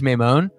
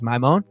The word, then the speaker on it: Maimone: Now my last name is Maimone. At least that's the American pronunciation, but the original Italian pronunciation is Maimone. Well, there used to be an I, so it'd be like Maimone, like so.